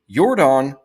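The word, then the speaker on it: Yordan: sponsored by Michael Jordan yordon is not spelled the same nor does it sound the same as Jordan and Jordan was bad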